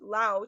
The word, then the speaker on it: Laos: Yes, it is pronounced Lao, as French colonial influence added the silent S in pluralization, which Americans applied their pronunciation rules to, making it no longer silent.